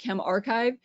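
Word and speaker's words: ChemRxiv: Um, but I guess Chem RXIV or they say to pronounce it Chem Archive, um, is a place where you can put preprints of papers.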